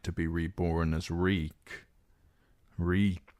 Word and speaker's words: Reek: Reek, Reek, it rhymes with shriek.